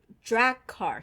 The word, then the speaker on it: Draghkar: And you probably might have an easier one with this one because of the way Rosamund Pike pronounces it. The drag car. She says drag car.